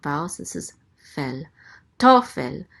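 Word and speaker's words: תֹּפֶל: Tofel. The accent mark is right here under the tav. So it's tofel. The accent is on the first syllable.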